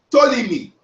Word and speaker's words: Ptolemy: Ptolemy. T. Ptolemy. The P is silent.